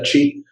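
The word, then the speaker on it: qi: En el sistema pinyin, aunque se pronuncia chi, lo ponen con una Q y lo escriben de esa manera.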